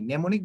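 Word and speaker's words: mnemonic: এরকম নিউমোনিয়া বানানে টির কোনো উচ্চারণ নাই, নেমোনিক বানানে এম এর কোনো উচ্চারণ নেই।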